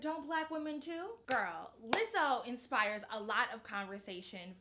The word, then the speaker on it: Lizzo: Mostly so I can make up for all the times I mispronounced her name as Lizzo. Ooh, my tongue is drunk. So sorry. But also because Lizzo is something special.